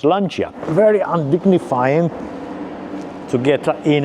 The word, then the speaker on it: Lancia: It is pronounced Lancia.